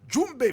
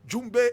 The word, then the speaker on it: Djoumbé: class today we are looking at jumbi Fatima jumbay Fatima jumbay is spelled DJ o g m b e and